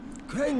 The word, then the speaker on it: Crane: Crane rhymes with train.